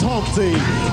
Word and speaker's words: Humpty: My name is Humpty, pronounced with an umpty.